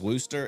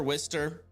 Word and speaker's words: Worcester: I thought it was Worcester. It's Worcester, Wister.